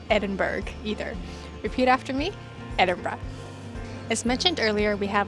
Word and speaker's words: Edinburgh: We've noticed that many North Americans pronounce Edinburgh like Edinburgh, but that's not right. And it's not Edinburgh either. Repeat after me, Edinburgh.